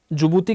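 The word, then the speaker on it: Djibouti: देखो, यहां से ये जो कंट्री है ये जुबूती है, इसको प्रोनाउंशिएट जुबूती करते हैं, स्पेलिंग इसकी डी से शुरू होती है।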